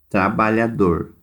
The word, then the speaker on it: trabalhador: Trabalhador. é a última também.